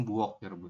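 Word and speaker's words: 부엌: bahasanya langsung buok seperti Jadi bukan bu buok tapi buok seperti itu ya bacanya langsung buok tapi untuk penulisan Latinnya Ya seperti ini karena kan O samping itu e Latinnya adalah eo tapi dibasnya tetap O ya seperti itu kalau yang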